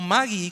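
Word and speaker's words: μάγοι: importantes muy importantes ahora mago o Maggie como se pronuncia en el griego también comenzó a usarse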